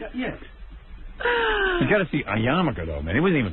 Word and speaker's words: yarmulke: I'm not even sure how to spell Yarmulke, but if I had to take a guess, I'd say Yamulkah. Well, there's an R in it, isn't there? Yarmulke?